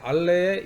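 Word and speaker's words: Allais: 어 예를 들어서 이제 알레 역설 이라는 겠읍니다 아래 빨래 패러독스 란 게 있는데 그게 부로 불어로 하면 자 이제 s 가 발음이 안 되죠 그렇죠 그러니까 발이 만들었던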